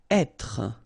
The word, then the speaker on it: être: Être. Okay, so remember that when you get this accent circonflexe here, you should really pronounce it openly. So, être. Okay, don't insist on the final être.